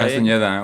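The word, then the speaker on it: Castañeda: Castaneda, right? Castaneda. with Okay, an ñ.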